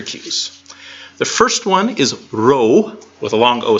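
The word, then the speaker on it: rho: think it's Pete it's not P it's a row and it has R sound like and Rob but when you go to write it it's a lowercase B there you go yeah but you pronounce it like an R so wrong and this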